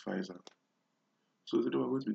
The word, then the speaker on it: Pfizer: I presume it's pronounced Pfizer.